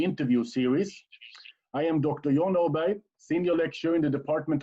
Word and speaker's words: Aberg: Thank you, John, and I'm glad I now have heard your name as it is actually pronounced. Yeah, Jon Aberg, that's how it is pronounced in Swedish.